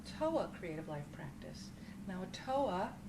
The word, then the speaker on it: OTOA: creative life practice now a toa is the acronym stands for the acronym of one thought one action o t o a which we pronounce so a toa creative life practice refers